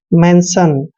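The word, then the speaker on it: mention: Next है एम का उच्चारण मैं करते हैं और ई को ए की मात्रा पढ़ते हैं और एन को न पढ़ते हैं और TION का उच्चारण हमेशा सन करते हैं।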